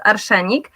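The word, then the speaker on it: arszenik: the poison but in polish it's arsenic it's pronounced archanic uh so uh we didn't want to use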